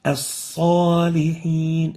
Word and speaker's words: الصالحين: And the proper way of pronouncing it is like this. الصالحين As-salihin, not so, but sa. So you avoid pursing the lips upon pronouncing the sa.